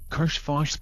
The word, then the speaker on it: Karshfosh: Karshfosh, pronounced throaty KKHHAHSSHHFAHSHSST.